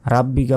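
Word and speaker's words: رَبِّكَ: এখানেও বড় হা বিহামদি রব্বিকা রাব্বিকা বলবেন না রব্বিকা ওয়াস্তাওফির এখানেও ভুল করি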